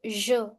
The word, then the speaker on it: je: It's je. Je. It is the soft sound je. Try to speak measure. Measure. Je.